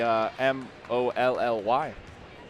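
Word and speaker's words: Mahli: It's not even spelled Molly, M-O-L-L-Y. But I did figure that one out. It's spelled M-A-H-L-I. Interestingly enough. But Huskies able to make 1 of 2 free throws there. 38-17 is the score. And it is Molly Abdouche who's out there right now.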